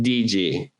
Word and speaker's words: DiGi: And today we are featuring Amy DG. Is that is that the correct pronunciation? Yeah. Yeah, it's from my mother's maiden name, DJ.